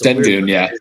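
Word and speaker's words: Şengün: I don't care if I said his name wrong, but it's Sengun, that's right.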